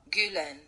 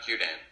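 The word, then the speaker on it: Gülen: Fethullah Gulen.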